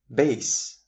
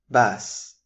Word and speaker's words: bass: Starting off with bass and bass. Bass, as you can see in the illustration, is the bass guitar, and bass is a breed of fish.